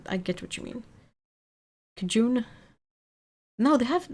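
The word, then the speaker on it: Cajun: No, they have they had a a really specific way of saying it and it was basically like kajin or something like like it sounded like a but you know slightly different.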